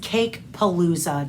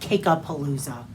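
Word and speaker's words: Cakepalooza: I think it's just cake palooa, not ka palooa.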